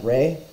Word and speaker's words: Ra: manifestations phases or forms Russia be pronounced as Rey hence the alternative spelling Rey rather than raw the meaning of Ra's